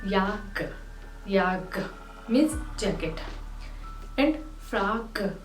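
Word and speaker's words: jakke: जैकेट को कहा जाता है याक।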